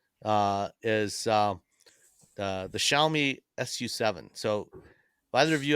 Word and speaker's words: Xiaomi: so everyone knows it's x i a o m i I'm like zomi zami zami I and how do you say it Sam xiaomi yeah no that